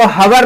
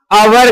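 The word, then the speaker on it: hour: लेकिन यहां देखिए एच ओ यू आर इसको हवर नहीं कहते हैं। आवर कहते हैं।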